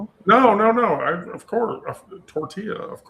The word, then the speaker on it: tortilla: Well, now would you say tortilla? Because we're not in we're not in Mexico. No, no, no. Of course. Tortilla. Of I have said Tortella before, but I was being funny.